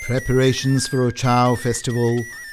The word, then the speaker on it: Uchao: in colorful communal dancing the festival of achal or chao as it's pronounced in the local kalasha language is one of the